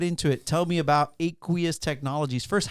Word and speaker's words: Aqueous: so let's get into it tell me about aqueous Technologies first how did you come up with the name aqueous because it's kind of cool it sounds like